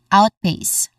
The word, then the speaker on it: outpace: All right we try to put them together we get outpace. The stress is on the first syllable out. So we get outpace.